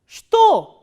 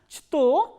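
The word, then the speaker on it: что: in the beginning that this is an exception. So, here this ch sound is, ch letter is pronounced as sh, sh, not as ch. So, now try to pronounce this word shto, shto. So, instead of pronouncing is as chto, we are pronouncing is as shto.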